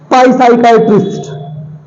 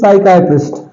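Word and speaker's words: psychiatric: साइकाइट्रिक this is नॉट पाई साइकाइट्रिक this is नॉट पाई साइकाइट्रिक this is साइकाइट्रिक here प इ silent because P comes here in the combination of पी S okay next R ई सीई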